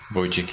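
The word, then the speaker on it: Wójcik: Wojcik, yes, exactly.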